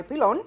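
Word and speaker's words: pilón: So one of my key tools when I'm dealing with garlic or I need to smash things is my pilon.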